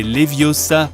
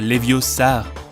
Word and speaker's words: Leviosa: Hey Siri, c'est Leviosa, pas Leviosar.